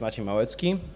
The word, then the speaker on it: Maciej Malecki: introduced me already uh but my name is machi moetsky oh this is how you spell it properly you know so i write code